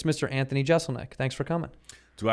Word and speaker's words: Jeselnik: just it's it's funny it's technically Jeselnik that's what I use right but I remember like when I graduated college I didn't get there in time to like tell them how to pronounce it so walk across the stage and they like Anthony Jeselnik and I'm like ticked like I'm annoyed that's that sets you off and my grandma's like actually Giselle Macca's correct too and